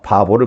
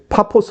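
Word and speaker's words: Paphos: 굽으로 의 살라미 와 원래 파 포스 인데 우리나라 발음으로 잘못되고 바보가 되고 있는데요 바보라고 하는 이 지역을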